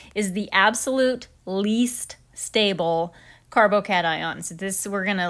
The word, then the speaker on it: carbocation: carbo cations are compounds that have a positively charged carbon